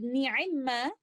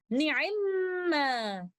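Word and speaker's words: نعما: In Surah An-Nisa, ayah number 58, the word ni'imma originally is na'imama, but the first letter meme acquires a sukoon and merges into the second letter meme, and we recite it with most complete gunna, ni'imma.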